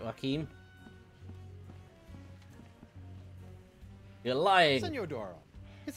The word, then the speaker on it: Joaquin: Joaquin, that's how you pronounce it.